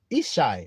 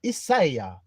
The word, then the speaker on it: Ishai: Ishai or Isaiah. That's how you say my name.